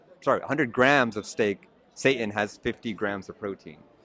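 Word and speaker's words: seitan: S E I T A N. Yeah, I don't know why they pronounce it Satan like that.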